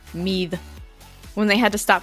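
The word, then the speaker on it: Meath: between ulster and mead it's spelled meat but i think it's pronounced mead when they had to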